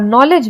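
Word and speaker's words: knowledge: आवर में H silent होता है और नॉलेज में K साइलेंट होता है।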